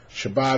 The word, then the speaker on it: Shabbat: And so the same word would be pronounced Shabbos among the Ashkenazim and Shabbat among the Sephardim.